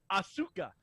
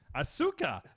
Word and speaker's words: Asuka: balor for a while on my monitor and asuka asuka asuka was a big problem for me because i've